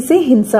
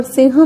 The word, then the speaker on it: सिंह: सिह के उच्चारण पर इसकी वर्तनी में हम लिखते तो ह है लेकिन हिंदी भाषी बोलते क्या है ग या घ यहां तक कि अंग्रेजी